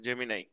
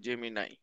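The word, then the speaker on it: Gemini: হচ্ছে গুগল ঠিক আছে জেমি নাই উচ্চারণ এটা জেমিনি না জেমি নাই তবে 2028 এর অলিম্পিক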